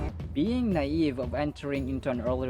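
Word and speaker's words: naïve: enemy of Excellence mediocre another requested word is naive or naive naive or naive you can notice that the eye has two dots above it they are called umlots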